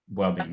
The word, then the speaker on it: Buabeng: Okay, I am on Facebook, I'm Instagram, I am on LinkedIn, and the handle is Buabeng. Yes. Okay, Buabeng. Buabeng, yes. B-U-A-B-E-N-G, yeah. The proper pronunciation.